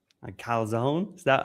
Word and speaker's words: calzone: The calzone. A calzone.